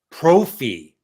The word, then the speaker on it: Prophy: We are with Glenn Galloway from the basement, and we are with Prophy, which rhymes with trophy.